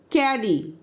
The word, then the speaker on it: carry: Y is at the end but here is a vowel a, so it is pronounced E, not I or Y. Next example, carry.